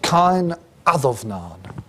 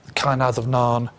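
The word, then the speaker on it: Cáin Adomnáin: Is a text called Cain Adomnain. Okay, there. This is the way we pronounce, so one way of pronouncing these things in Old Irish.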